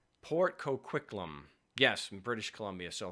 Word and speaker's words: Port Coquitlam: the end no somebody's correcting me here it's pronounced Port Coquitlam Port Coquitlam Port Coquitlam yes in British Columbia so thank you Doug